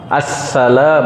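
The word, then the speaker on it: السلام: Assalam, bacanya harus benar. Assalam, pakai alif lam. Enggak pakai alif lam batal, kata Imam Nawawi, bukan kata saya.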